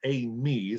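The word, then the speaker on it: εἰμί: Es la palabra eimi, se pronuncia así.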